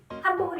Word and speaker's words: 한복: 저는 니은 발음을 정확하게 한 거고 처음에 제가 편안하게 말씀드릴 때 한복 입었어요 할 때는 미음 발음이 들어간 겁니다. 한복. 왜냐하면 복자의 비읍이 입술을 붙이기 때문에 미리 붙이는 거예요. 한복 하면 뒤의 단어를 훨씬 더 쉽게 소리낼 수 있으니까 미리 한복 이렇게 얘기하는 거죠.